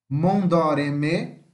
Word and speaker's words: Mondoreme: Mondoreme, no caso aqui, o Mon vai ficar mais forte. Lembra? O acento não indica a sílaba forte. O acento no O aqui é só para fazer o som de O, para não ficar O, para não ficar Mondô, para ficar Mondó.